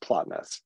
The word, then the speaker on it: Plotinus: the Neoplatonic philosophers like Plotinus. I've also heard it pronounced Plotinus. Okay, so if my name, everybody mispronounces it, so I get to mispronounce Plotinus. You say Plotinus, I say Plotinus.